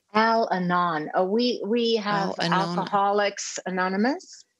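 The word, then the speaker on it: Al-Anon: question what is alano how do you say al anon we we have alcoholics anonymous and then we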